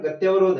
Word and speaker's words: गत्यावरोध: में सही लगता है, लेकिन ये इसका सही उच्चारण गत्यावरोध है।